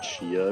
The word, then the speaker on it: Zaya: So the actual pronunciation of Zaya is Shia, if you want to be correct. Sorry to burst your bubble. Yeah, she is the correct pronunciation, but he has said that he's okay with people saying Zaya as well.